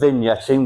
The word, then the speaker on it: vignetting: So, this word, we pronounce it as vignetting with a silent G.